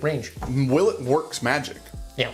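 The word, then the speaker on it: Willett: you do really tease Oh a silent T the reason we're going with the will it for you yes because it's actually will it right yes it is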